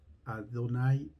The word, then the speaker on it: Adonay: de fe del israelita el nombre ado nay mi señor así lo pronunciaban los judíos por respeto a dios adonay qué quiere decir mi señor se dice ado nay es nuestro dios adonay